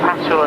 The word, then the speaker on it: Pachol: Pachol, as I'm told I should pronounce it.